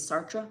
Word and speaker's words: Sartre: So, I I've been told that the correct English pronunciation is Sartra. So, we're going to go with that.